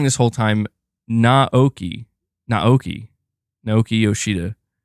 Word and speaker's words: Naoki Yoshida: Naoki Yoshida, not Naoki.